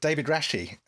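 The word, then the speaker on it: David Rasche: rash by the way david rashi is that's how you pronounce it i think david rashi stars briefly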